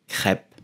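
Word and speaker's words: crêpe: you will simply say crap crap so the e at the end like most of the time in France is silence so pronounce the P instead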